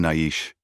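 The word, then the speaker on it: Naiche: "I am Naish," he said, using the Apache pronunciation of his name.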